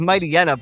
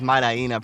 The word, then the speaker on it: Mightyena: It's Mightyena, but I like pronouncing it as Mightyena personally because it's like a hyena, right?